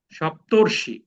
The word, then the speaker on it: সপ্তর্ষি: অ এবং রিকার মিলে সপ্তর্ষি। এটার উচ্চারণটা কি হবে, সপ্তর্ষি, মানে এখানে একটা র আছে কিন্তু, অর, সপ্তর্ষি, দেবর্ষি।